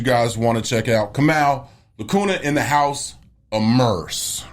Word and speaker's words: Kamau: A lot of people mispronounce it. Kamau.